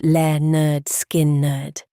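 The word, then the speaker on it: Lynyrd Skynyrd: services at Filillmore East and pronounced le nerd skin nerd and the other landmark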